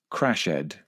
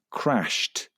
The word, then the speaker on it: crashed: It's very common to hear people express these verbs phonetically. For example, observed, crashed, and concluded, when in fact they should be pronounced observed with a d sound at the end, crashed with a t